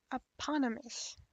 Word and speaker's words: eponymous: How do you say it? Eponymous. Sounds like a hippopotamus.